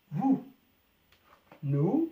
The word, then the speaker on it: nous: حرف الأس لا ينطق. vous nous معناها نحن.